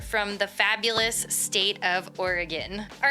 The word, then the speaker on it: Oregon: to figure that out I also grew up saying Oregon and we used to play the Oregon Trail in school so if you know you know it's actually Oregon turns out but I'm going to